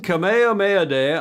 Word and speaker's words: Kamehameha: no king oh King kameha mayad yes King kameha mayad on I learned to pronounce it that last night on June 11th